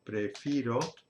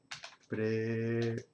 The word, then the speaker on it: prefiero: Y voy a decir, no voy a decir prefiro, voy a decir prefiero. Y sigue la regla que hemos visto antes, así que la forma nosotros no cambia, es preferimos.